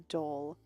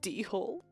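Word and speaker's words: dhole: all wild dogs is the dole it's spelled a d-hole and i almost read it as d-hole or asian red dog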